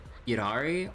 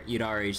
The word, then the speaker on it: Yidhari: It's like a soft D sound compared to like a hard duh sound.